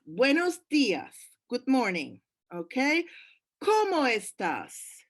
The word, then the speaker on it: cómo estás: Now take care with the emphasis. Spanish does not have question form like English. How are you? You don't have that. So, ¿cómo estás? It's all in the flexion of the voice, in how you pronounce things. And it has to go up.